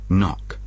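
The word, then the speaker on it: knock: iact tunack стукати тут перша буква K не читається нок НАК on the door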